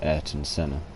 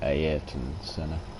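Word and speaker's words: Ayrton Senna: and my all-time idol everybody in europe says eric and sinner but um his name is actually pronounced ayet and senna heyer from brazil rest his soul let's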